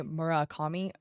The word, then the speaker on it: Murakami: Takashi Murakami?" That's how you pronounce it.